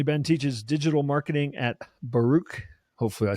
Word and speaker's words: Baruch: And yes, you did pronounce Baruch correctly.